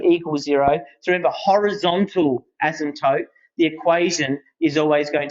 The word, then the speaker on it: asymptote: that people always uh often mispronounce Eric yep asymptote and you pronounce it properly yeah asymptote so we have a horizontal asymptote right the